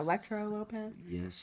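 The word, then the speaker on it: Elektra Lopez: And this last matchup is Naomi versus Tiffany Stratton versus Electra Lopez, I think is how you say it. yes, Electra Lopez.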